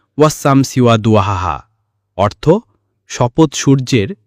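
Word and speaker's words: وَالشَّمْسِ: তিনি বললেন, ওয়াশ-শামসি ওয়া দুহাহা। উচ্চারণ ওয়াস-শামসি ওয়া দুহাহা, অর্থ শপথ সূর্যের এবং তার প্রভাতের।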